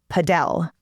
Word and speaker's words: Padel: And some people in different parts of the US call it padell, but in Texas, most of the people I'm talking to are calling it paddle.